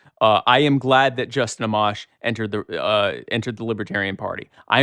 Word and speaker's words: Amash: Amash. Yeah, Amash. Yeah. Was he decent, or was he a possibility? He's one of the more libertarian congressmen in Congress. I am glad that Justin Amash entered the Libertarian Party.